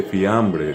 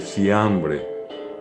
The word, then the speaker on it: fiambre: Palabras como fideo, a la gente que habla guaraní normalmente les resulta difícil pronunciar, y en lugar de la F sustituye por la S. Entonces dice sideo, no dice fiambre, dice siambre.